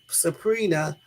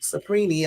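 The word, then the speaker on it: Cipriani: is likely we's friend restaurant magnet Jeffy s suprina whose properties the film morgo used to pray on women and he that dude supren I have you pronounce his name c i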